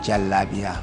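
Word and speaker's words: jalabiya: lot of jalabia around that's how it's pronounced right jalabia jalabia the long stress yes okay does it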